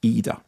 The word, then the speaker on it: Ida: it is called well it's spelled either but pronounced either